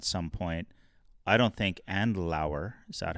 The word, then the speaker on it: Andlauer: So if it looks like that's not going to happen at some point, I don't think Andlauer, is that how you say it? Andlauer, yeah.